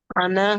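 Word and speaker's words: أنا: तो ये अना के बारे में देखिए, ये जो अना है ये नून के साथ, नून के ऊपर जबर है और उसके बाद अलिफ आ गया।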